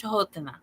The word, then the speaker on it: Canotina: And it's spelled Canotina, but it's pronounced Chahotana.